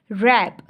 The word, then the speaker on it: wrap: Next है बच्चों autumn, AUTUMN, इसमें एन साइलेंट है, ऑटम, ऑटम, ठीक है, इसमें क्या साइलेंट है, एन। रैप, रैप, इसमें वैसे क्या स्पेलिंग है इसके, WRAP, रैप, तो इसमें W साइलेंट है, ठीक है।